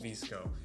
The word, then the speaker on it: VSCO: jump on an app called NiceKo. It's spelled VSCO.